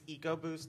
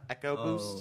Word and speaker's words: EcoBoost: it's a a and it's it's EcoBoost not echo boost oh I hate echo